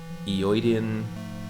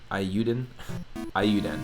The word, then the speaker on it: Eiyuden: Dreamer says, the wife and I backed Eoiden, I don't know how to say it, Eiyuden, that's it.